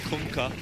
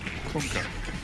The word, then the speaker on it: Kunkka: That's how you pronounce it. You're welcome. Kunkka. Kunkka.